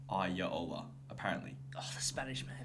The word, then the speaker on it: Iraola: I think it's Iraola. No, it's with an R, but I looked up how to pronounce it. Apparently, it's like Iraola.